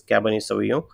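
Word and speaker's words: Cabernet Sauvignon: in Black category is caban soo so the pronunciation is caban soo and in short we call it cabv also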